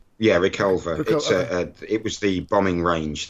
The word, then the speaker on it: Reculver: Gibson starts to attend, is that, how's it pronounced, Reculver? Yeah, Reculver.